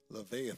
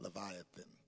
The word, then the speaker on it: Leviathan: use us listen and be blessed the scripture lethan did I say it right I messed it up again oh my God levithan then verse one of job 41 canest thou draw out Leviathan with a hook or his tongue with a